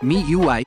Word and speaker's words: MIUI: Se trata del término que, si lo pronuncias, sonaría MIUI, como el inglés de MIUI.